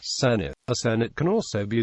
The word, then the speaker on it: Senedd: In Wales, the National Assembly for Wales debating chamber is called the Senedd, pronounced Senate.